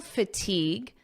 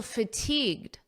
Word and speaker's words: fatigued: You may notice that the pronunciation is almost identical because this D in fatigued is extremely soft and you don't really hear it at a natural pace.